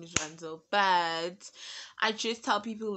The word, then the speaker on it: Rhandzu: My name is Ranzu. Yeah, my name is Ranzu.